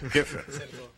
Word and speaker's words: Keffer: Acertei a pronúncia do sobrenome? Keffer.